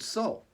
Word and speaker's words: Sol: goes around, it's called Sol, S-O-L, but pronounced just like our creative power, our light, our energy, the soul, S-O-U-L.